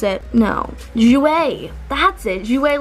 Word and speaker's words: Jouer: I forgot even how to pronounce it. No, Jouer, that's it.